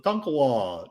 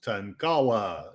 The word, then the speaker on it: Tonkawa: Well, I'm going to report, sort of, on the situation with water in my local town of Tonkawa. No, it is not pronounced Tankawa, in spite of, things.